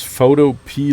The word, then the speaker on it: Photopea: But it's Photopea, like the pea that you can eat.